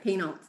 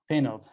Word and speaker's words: Poehnelt: Did I pronounce that right? Yeah, Poehnelt. Poehnelt.